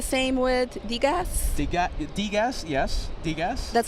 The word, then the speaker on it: Degas: Degas. That's how you pronounce it?